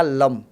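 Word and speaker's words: लं: मूलाधार जो है मूलाधार में मंत्र आपको पता हो तो है लम प्रोनाउंसिएशन जो होता है मूलाधार के मंत्र का लम और यहां पर मंत्र क्या है?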